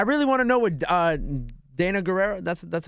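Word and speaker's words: Danai Gurira: I really want to know what Dana Guerrero.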